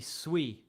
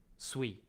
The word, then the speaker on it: Sui: You say Sui wrong. It's meant to be Sui. Because it's not an English word, right? You're supposed to pronounce it in the native tongue. Sui.